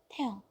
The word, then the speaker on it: Taehyung: No H pronounced in the middle of names. Taeyong. Taehyung. And the hyung is so light. Taeyong. Okay, got it? Taeyong. Almost no H.